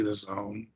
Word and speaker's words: DAZN: zone the zoom oh i thought it was actually d-a-z-n yeah it's supposed to be the zone that i don't get why it's spelled that way either oh okay yeah yeah